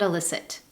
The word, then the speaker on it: illicit: The first, illicit and illicit. These 2 words are homophones. What that means is they are words pronounced in the same way, but they have different meanings.